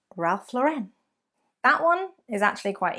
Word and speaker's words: Ralph Lauren: Number 11, it is not Ralph Lauren, but it is, in fact, Ralph Lauren. Ralph Lauren. Ralph Lauren, not Ralph Lauren.